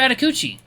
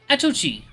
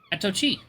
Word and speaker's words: Atochi: Atakuchi. The tiger looks at me with a nervous expression. Actually, it's Atochi. Atochi.